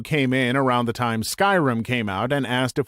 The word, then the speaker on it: Skyrim: a guy who came in around the time Skyrim came out and asked if we had the new Elder Scrolls game I said Oh you mean Skyrim he laughed condescendingly and said no I mean scrim thinking he was just mistaken I was like